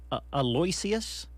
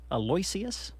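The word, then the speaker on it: Aloysius: this oh that's right yeah it's hard to pronounce a Lloyd a loysius a loysius wow a-l-o-y-s-i-u-s is Mr Snuffleupagus first name so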